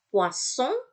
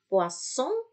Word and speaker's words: poisson: S di tengah-tengah kata tadi ada 2 dibaca S, kalau ada 1 dibaca Z. Jadi poisson, poisson, ikan, poison, poison, racun.